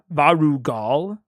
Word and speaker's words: Varugal: Varugal is the correct pronunciation.